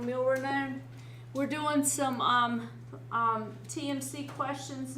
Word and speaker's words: milrinone: Dopamine, dobutamine, milneuron. And you'll probably want to keep this one in mind, milrinone. I said it wrong, milrinone.